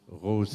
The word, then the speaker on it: Rose: Except that Rose in German means exactly the same thing, that beautiful flower, but in German it's pronounced Rose.